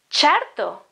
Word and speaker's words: certo: And certo, this is chi and e sound.